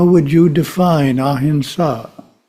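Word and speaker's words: ahimsa: how would you define ahinsa spelled with an M but it's pronounced with an N such just sounds good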